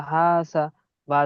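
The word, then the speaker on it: حَسَبَ: হা আলিফ জবর হা, সিন জবর সা, হাসা, বা জবর বা, মাশাআল্লাহ, হাসাবা।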